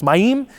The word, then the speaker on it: Mayim: best, would be Mayim, because you always put in Hebrew, the emphasis is on the second syllable, so it's Mayim, Chaim.